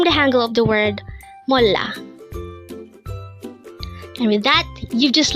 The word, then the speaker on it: 몰라: word number 90 mola again it's m this is pronounced as a two syllable word the first syllable is M second syllable is La pronounce it with me it's mola mola what is the